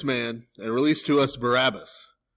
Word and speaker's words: Barabbas: and release to us Barabbas." Now, Barabbas, even though we pronounce it that way, is actually the Aramaic name Bar Abbas.